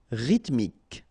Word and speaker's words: rythmique: remember y pronounce like and then h doesn't exist ryth mi rythmique en ruin don't pronounce